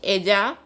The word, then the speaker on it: ella: Ella tiene means she has. Double L is pronounced as J in Spanish, so it is pronounced as ella.